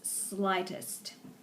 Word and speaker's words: slightest: And then the second to the last word before ripple, we have the word slightest. And that's where you don't pronounce that G. That's one of our silent letters. So it's slightest.